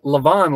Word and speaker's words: LaVon: Yeah, LaVon, like live on.